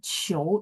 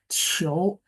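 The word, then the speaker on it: 求: Q itu kan berarti cici. Bacanya ada angin kan. Qiu, tapi nada dua ya. Qiu.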